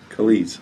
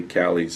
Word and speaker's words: Calise: me and I'm like you're saying it wrong the whole time it's Calise well I mean the English language makes you want to say Kali's sometimes yeah Kelly's from Kelly there you go all right